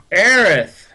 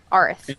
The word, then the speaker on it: Aerith: Aerith! Arith. And I leaned again. Aerith. Arth. Earth? Honey, you have to learn to pronounce it the right way at some point. Okay. Aerith. Yes.